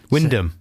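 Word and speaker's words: Wymondham: big gym at work in wymandum windham no it's not spelt like that yeah but sometimes things are spelt in a different way to the pronunciation fourth one down why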